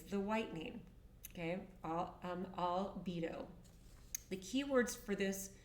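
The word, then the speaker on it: albedo: The second one is called albido and it's spelled a lb bo pronounced albido and this is called the whitening.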